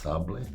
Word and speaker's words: Sables: Some people might read it and pronounce it Sables, but I think in French it's pronounced Sables.